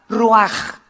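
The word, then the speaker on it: רוח: Se escribe ruach con CH, se pronuncia con J, ruach.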